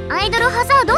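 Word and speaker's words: アイドル大戦争: アイドル大戦争って書いてアイドルハザードって読む、通称アイハザ。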